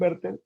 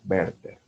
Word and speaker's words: Werther: Entonces son las penas del joven Werther o los sufrimientos del joven Werther. Ah, y no se dice Werther, ¿ah? La pronunciación original es Werther. La W en alemán suena como B.